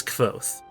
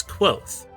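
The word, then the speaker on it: Kvothe: My name is Koth. Pronounce pronounced nearly the same as quot names are important as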